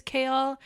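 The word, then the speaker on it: Chaol: his name is Captain kale Westfall but his name is spelled c h a o l um but in the audio book again it's pronounced Kale like the leafy green yeah it looks more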